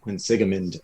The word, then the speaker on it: Quinsigamond: And I went for, I think, maybe 2 semesters to that community college, which is pronounced Quinsigamond Community College. Quinsigamond, okay.